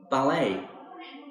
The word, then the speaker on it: ballet: me skiing not skying ballet notice the T in ballet is a silent letter fencing this is like